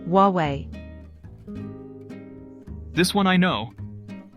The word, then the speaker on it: Huawei: My uncle bought a Huawei phone. That's incorrect. The right pronunciation is Huawei. What? There's no W in Huawei. That's how it's pronounced in Chinese, Huawei.